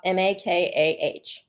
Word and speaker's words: Makah: Now, one thing I did find really interesting, not to get off topic, but the Maka tribe, again, I think that's how you say it. They're like way up, Makah.